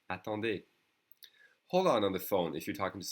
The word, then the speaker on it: attendez: And in the plural or formal would be attendez, attendez. Remember the easy is pronounced E. Attendez.